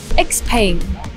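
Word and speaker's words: XPENG: actually pronounce the name we call it x-pain explained that's quite simple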